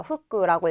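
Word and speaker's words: 副: 후쿠라고 읽습니다.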